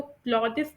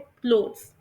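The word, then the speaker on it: clothes: यहां पर एक बात आप लोगों ने और भी याद रखनी है कि इस वर्ड को क्लॉजेस प्रोनाउंस नहीं करते। यह बिल्कुल गलत तरीका है। इसे प्रोनाउंस करते हैं क्लोथ्स।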